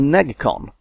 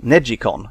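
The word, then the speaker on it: NeGcon: made by Namco this one is called the neg con or neji con as it's apparently supposed to be pronounced no analog thumb sticks at all instead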